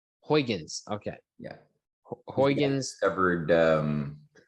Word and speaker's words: Huygens: my gosh what is that how do you pronounce that hugh james uh yeah chris christian huygens huygens okay yeah huygens covered um the um the